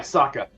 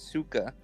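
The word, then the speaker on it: Sokka: name s it's yeah Saka his whole story pronouncing it wrong it's Suka Suka no no did they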